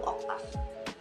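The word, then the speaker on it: oktaf: Tapi ketika diubah ke dalam bahasa Indonesia, O-nya tuh tetap dilafalkan O, C-nya jadi K, dan A gandanya jadi A tunggal. Jadi bacanya tuh oktav.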